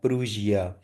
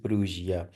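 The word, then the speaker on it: Prussia: प्रूशिया, इसको सही जो प्रोनाउंसिएशन है दैट इज प्रूशिया।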